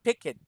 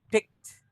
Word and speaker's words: picked: again pick it okay instead of saying pick it don't mind the e don't mind the e picked it's like k and d picked try again yes